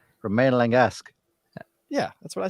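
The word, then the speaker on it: Romain Langasque: how do you pronounce Roman lingesque yeah that's what I said I mean you said Roman Romaine like the left you gotta roll the r ude that was better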